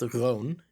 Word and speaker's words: Rune: It's pronounced roon in Dutch.